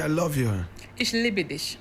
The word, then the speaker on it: Ich liebe dich: Ich liebe dich. Ich liebe dich. Yes. Like libido, right?